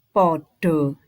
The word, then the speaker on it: pada: mlebu kelase dewi-dewi nanya-nanya perhatikan tulisan pada tapi membacanya bukan pada tapi podo ya kan ini jadi